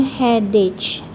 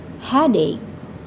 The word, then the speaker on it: headache: Kadang ada yang membacanya headache, padahal dia seharusnya headache, sakit kepala, headache.